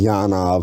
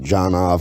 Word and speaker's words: Janov: I used to think it was pronounced Yanov. He's the guy that created primal scream therapy. I think it actually is Yanov. I think he just pronounces it Janov because he's an American.